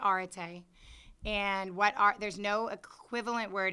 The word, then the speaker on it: arete: there with pronunciation guides, we use a British pronunciation, so we're not pronouncing it the way that some of you may research it. But we say arete, and there's no equivalent word in the English language.